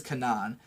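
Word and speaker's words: Canaan: girl named Kanan, and I'm gonna pronounce it that way because that's how they fucking say her name in the show. I know it's like a different word, but her name is Kanan.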